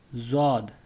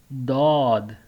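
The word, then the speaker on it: ض: this alphabet for you, that this alphabet is called Zod in Urdu. Keep it in mind, it is pronounced as Zod in Urdu. Okay, and this same alphabet is pronounced Dod. Dod in Arabic language. Okay, in Arabic language this same alphabet is pronounced as Dod. Dod. And in Urdu it is pronounced as Zod. Zod.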